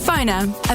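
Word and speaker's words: Phonr: That's spelled PFONR. Phoner.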